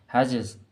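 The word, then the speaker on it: hedges: हैजेस, हैजेस का मतलब होता है, इसको हैजेस पढ़ते हैं, याद रखिएगा, डी इसमें साइलेंट होता है।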